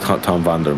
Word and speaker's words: Vander: say your name correct actually it is just Tom Vander yeah I'm saying it